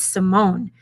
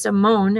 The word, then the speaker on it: Simone: would have said simon because it looks like simon and had i a little french background i might have known better but guilty so i